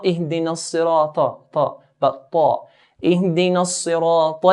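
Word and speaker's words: اهدنا الصراط: So Ihdina as-sirata. Then we have ta here. Ta is from the heavy letters. So we pronounce it in a heavier manner.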